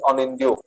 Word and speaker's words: Anindya: pronounces that, but why is it that I have another friend called Anindya, but he says when I ask him, he says my name is Anindyo, and Yes.